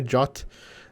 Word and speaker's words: JWT: A pronúncia do JWT é JOT, se você quiser saber, não sei se é importante essa informação, mas enfim, instalar esse pacote aqui também.